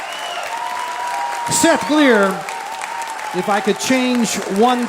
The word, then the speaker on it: Glier: Seth Gleer.